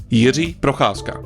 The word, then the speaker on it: Procházka: is the fight of Yi prasa and Jamal Hill once again this is how you pronounce his name Yi Brasa and the reason why